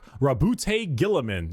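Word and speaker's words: Roboute Guilliman: Primark Rabbout Gillamin.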